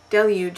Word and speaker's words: deluge: but it turns out that delug is the correct pronunciation and delu is highly non-standard so Deluge it is okay that's really enough